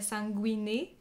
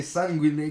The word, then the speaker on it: Sanguine: Pas vrai, écoute, c'est en latin, puis la prononciation est variante, mais je pense que la vraie, ça serait sanguiné.